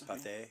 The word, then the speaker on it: Pathé: It's Pathé, like the French.